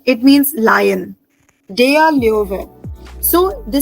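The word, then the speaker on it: Löwe: We have a word called dare leover. Dare leover. And O is with umlauts. Dare leover. So L umlauts O W E.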